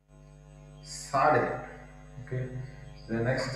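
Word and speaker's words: צדי: That is Sade. So the sound is the TS as in the English word nuts.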